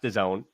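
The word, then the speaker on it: DAZN: it's broadcasting Revenue so the Zone again uh it's d-a-z-n that's what we're talking about but it's pronounced the Zone they have acquired the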